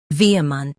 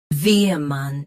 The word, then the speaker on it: vehement: Vehement. Both US and UK have the same pronunciation of this word. Stress V. Keep soft, then finish ment clearly. Vehement. Vehement. Stress V. Keep soft, then finish ment clearly.